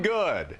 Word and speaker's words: Good: Good. Oh. It's got an E on the end, so some people pronounce it Goody, but it's just Good.